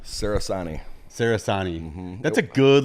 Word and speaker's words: Cerasani: I got to tell you, man, when I'm in Italy, which I was last summer, the true Italian way to say it is Cerasani. They pronounce CE with a CH.